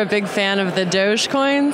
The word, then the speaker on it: Doge: and the Defcon Community you can pronounce it doggy pronounce it doy I like Doge um there there's a couple other pronun some people just say dog um okay so okay